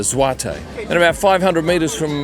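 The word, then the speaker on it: złoty: They use what I thought was the zloty, because that's how it's spelled, but it's actually the zloty.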